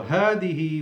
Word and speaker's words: هذه: So هذه والدتي with the silent with the alif that is pronounced, not written. هذه, just like هذا, between the first two letters of both words, of both أسماء الإشارة, pointing nouns, you have an alif pronounced but not written.